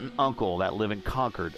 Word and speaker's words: Concord: uncle that live in conquer or is they say ConEd uh there ConEd uh and uh they are about 20 minutes from the track it's funny Charlotte mother's fway the southerners Charlotte Motor Speedway is in Concord Concord Concord yeah yeah he's not conqu well you there's a